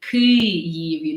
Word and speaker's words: Kyiv: And then for the Kyiv, like I know that people have a very hard time pronouncing so I usually say that Kith, like Kith, has a very similar sound as Kyiv.